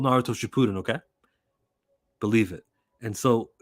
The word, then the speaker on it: Naruto Shippuden: We got our doubts the way he was talking about Naruto, and he pronounced it Naruto Shippuden. It's called Naruto Shippuden, okay?